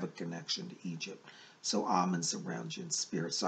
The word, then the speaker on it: Amen: like Amun-Ra, but he says, I'm Amun, A-M-E-N, Amun is how he pronounces it.